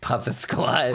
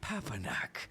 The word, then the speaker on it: Papanak: Like you got to have to say it in syllables. I'm from Sandy. I don't fucking understand all these jibber jabbers. I was fine. A knack. Papanak? You nearly had it. You nearly had it, yes. Like Pumpernickel. Pumpernickel.